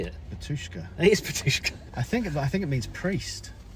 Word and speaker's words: Batushka: It is BATUSHKA.